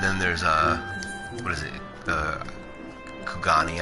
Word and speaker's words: Kugani: Kugani, I think it's called. It's a castle in Stormblood. I totally called it Q-Gain for like ever.